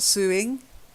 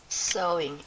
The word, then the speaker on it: sewing: It's like sow, to sow, you little so-and-so, not suing.